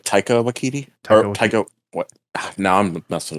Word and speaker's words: Taika Waititi: Tahiti Wakiti, or how do you say his name? Oh yeah, I think it's like Taika Waititi.